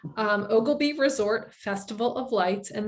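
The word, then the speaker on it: Oglebay: about ogilvy um yes it is pronounced ogilbee even though it's spelled ogle bay um ogilby resort festival of lights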